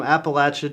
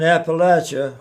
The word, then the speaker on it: Appalachia: Snake said Eve, if you try to deceive, I'll throw this apple at you.